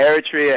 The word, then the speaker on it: Eritrea: uh what about uh let me see here eritrea is that how you pronounce it yeah eritrea eritrea um it's uh it's a former italian